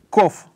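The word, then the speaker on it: ק: Ну, если вот в англоязычной транскрипции, да, то это более эмфатический звук, который передается, ну, английским "q", "k", да? "Q".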